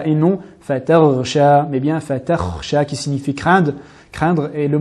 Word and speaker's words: فَتَخْشَى: Dans le verset numéro 19, nous avons le mot fatakhsha. Souvent, on entend une prononciation différente. La lettre kha est transformée en lettre reyn, qui sont deux mots différents qui ont chacun leur propre sens.